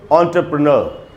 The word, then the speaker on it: entrepreneur: तो इसका उच्चारण होता है दोस्तों एंटरप्रेन्योर। एंटरप्रेन्योर इसका उच्चारण है। इसको एंटरप्रेन्योर नहीं बोलना चाहिए, एंटरप्रेन्योर, ये इसका शुद्ध उच्चारण है।